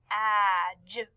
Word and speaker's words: Madge: We also talked about this week how the soft G and soft GDE make the J sound. Look at how Madge is spelled and how it sounds. Madge. Madge.